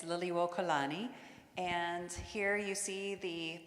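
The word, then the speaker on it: Liliʻuokalani: the kids a chance to um try to pronounce the Queen's name it's Lily wani and here you see the Palace of the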